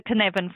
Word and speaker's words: Cynefin: I will try to pronounce it correctly. I think it's Cynefin. The Cynefin framework, yeah.